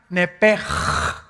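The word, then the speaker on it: נפש: Esa palabra alma es la palabra hebrea nepesh, así como suena N-E-P-E-S-H, nepesh. La palabra, la letra o las letras S-H en el hebreo se pronuncian en hebreo como J. Entonces se pronuncia nepej.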